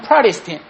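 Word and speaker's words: Protestant: 실제로는 개신교를 영어로 뭐라고 하냐면 미국 사람들은 프라리스틴 이렇게 발음하고 한국 사람은 프로테스탄트 이렇게 발음합니다.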